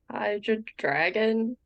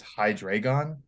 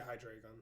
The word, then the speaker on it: Hydreigon: Hydra dragon? Close. Yeah, Okay, I if think I'm that's close. pronouncing Give it this to her. right, I think, yeah, if I pronounce this right, it's Hydragon. Yeah, Hydreigon.